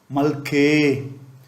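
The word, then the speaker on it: ܡܠܟܝܗ: Malke. Here it is a feminine form. Malke. A with yod. Malke. And a he with a dot above the letter. He is not pronounced.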